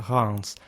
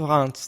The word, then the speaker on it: Reims: Hello everyone, today we talk about medieval Reims. There are different ways we would think it could be pronounced, Reims, Rem, whatever, but it's actually Reims.